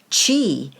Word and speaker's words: qi: of key or Qi key is the Japanese word Qi is the Chinese pronunciation in this book I